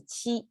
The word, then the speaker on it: 七: This is our number 7, pronounced as a qi.